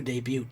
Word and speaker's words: debut: you shouldn't hope to debute if you're not ready and so I don't know why I pronounce the T so strongly in debut but anyways just be